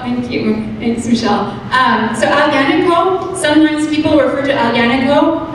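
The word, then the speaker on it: Aglianico: they have there, but Alianico is one of our favorite. Well, it's spelled with a G, but you don't pronounce the G.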